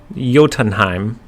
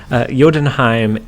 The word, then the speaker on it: Jotunheim: But hold on, we have the pronunciation, guys. And so in Jotunheim, did I get it?